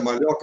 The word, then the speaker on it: Maglioca: Malhoca com 2 Cs, a pronúncia é Malhoca, mas escreve-se Maglioca.